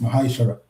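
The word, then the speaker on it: ma'aser: You can find this in the book of numbers 18 and 21 and Malachi 3:8-10 means tent in the Hebrew and is pronounced Mahashara.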